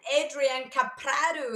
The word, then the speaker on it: Adrian Caprado: His name is Adrian Caprado. Did I say it properly, Adrian? Perfect. And I was.